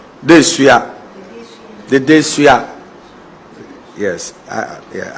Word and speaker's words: Dedesua: 100 acre land lying, being, and situated at Dedeso in Kumasi to meet How's it pronounced? Dedeso The Dedeso Yes, I Yeah, I was pronouncing the Asante word like an achievement.